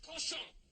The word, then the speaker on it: cochon: The word is pronounced cochon.